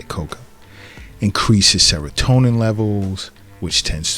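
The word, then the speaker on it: cacao: inhibition because this this some people pronounce it kaca and I've gotten feedback but I still say Coco increases serotonin levels which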